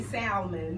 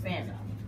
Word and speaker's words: salmon: have silent letters, words that you were probably mispronouncing. So you and salmon is one of them. People say salmon. Yeah. It's salmon.